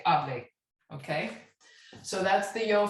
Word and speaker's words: hable: So you say hable instead of the subjunctive where you say hable, okay?